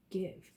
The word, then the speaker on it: give: give giv e give now remember this is one of those words high-frequency words are considered tricky words because they don't follow all of the rules that we've learned okay remember we learned the e is at the end it's called the magic e it usually tells the vowel to say its name this is an i it would say I this does not say guys this